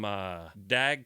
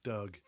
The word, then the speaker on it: Dag: Yeah, we got another one from Dag Kajetel Bakind. Is that about right? Yeah, Ed's Swedish pronunciation is above reproach. Dag Kajetel Bakind. Sorry, Doug. Doug? Doug. D-A-G, Dag. Doug. Doug? Yeah, Doug, like Doug Hammarskjöld.